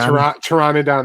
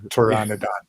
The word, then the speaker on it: Pteranodon: Pteranodon, the P is silent. Oh, okay. Thank you. Pteranodon.